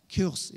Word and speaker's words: Kursk: Nah Bapak Ibu, ini adalah foto sebuah kapal selam nuklir Rusia yang bernama Kursk ya, Kursk ya bacanya gitu.